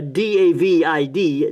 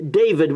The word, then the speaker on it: David: west here to a town called David, or D-A-V-I-D, David we would say in English, but they pronounce it David.